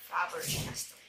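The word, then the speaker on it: Faber-Castell: At ito yung Faber Castell. They say na dapat daw Faber Castell, what I call it, how I pronounce it.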